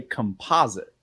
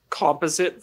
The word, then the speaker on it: composite: Because we would say composite. Composite versus composite. Oh, interesting. I would say I'm going to composite 2 images together, but I would say a composite stick.